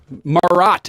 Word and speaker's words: Morott: too far away oh you're perfect good stuff morat am I pronouncing that correctly yes all right Mr Joshua